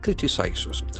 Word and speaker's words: criticize: It criticizes. C-R-I-T-I-C-I-S-E. So that is a very important verb. Criticize. Criticize. Criticize. The accent falls on the first syllable to express disapproval of someone.